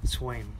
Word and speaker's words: Sveum: How do you pronounce that? Dale Sveum. Swain.